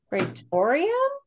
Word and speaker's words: Praetorium: Spell it one more time. Pretorium. Praetorium?